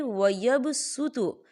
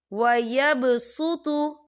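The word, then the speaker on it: ويبسط: या देखिए वयबसुतु, स्वाद के पर सीन आपको लिखा हुआ नज़र आ रहा है छोटा सा, तो ये स्वाद जो है ये साइलेंट हो जाएगा और हम सीन को पढ़ेंगे। कैसे? वयबसुतु।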